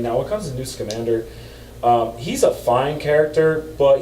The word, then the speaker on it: Newt Scamander: Newt Scamander, and I like that movie.